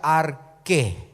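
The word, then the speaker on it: ἀρχή: palabra principado en griego es la palabra arche que se pronuncia ar que y que significa principio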